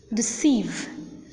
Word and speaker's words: deceive: not accented for instance in the words like about deceive Delight the second syllable is accented the first syllable is unaccented unstressed hence we need to